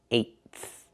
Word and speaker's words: eighth: We can say fifth, but we cannot say eighth. It's pronounced eighth. Put the tongue up, make the stop tight, and then go to the thigh.